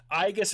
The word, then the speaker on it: Aigis: Aigis is actually how you're supposed to say it in Greek. Aegis is Latin.